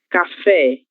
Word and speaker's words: café: Café, acento gráfico na letra E, o acento agudo. Logo, a sílaba tônica será fé, certo?